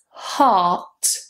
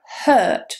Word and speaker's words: heart: The next one is heart. Now in British English, we don't pronounce the R. Heart. R. Heart. A lot of students say hurt, my hurt, but that's a different word.